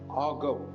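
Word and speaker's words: argot: இருக்கும் இல்லையா, அதை வந்து இந்த ஆகவ் அப்படின்னு சொல்றாங்க. ஆர்காட் அப்படின்னு எழுதியிருப்பாங்க. அந்த டி வந்து உச்சரிக்கிறது இல்லை, ஆகாவ் அப்படின்னு சொல்லிட்டு.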